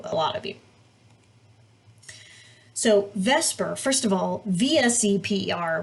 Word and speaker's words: VSEPR: lot of you so vesper first of all vse per which probably should be pronounced the supper but we just say vesper because it sounds better stands for valence shell